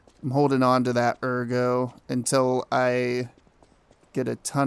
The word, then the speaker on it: Ergo: holding on to that Ergo until I get a ton of it or Ergo I keep calling it Ergo it's ergo that's how they pronounce it wow really can't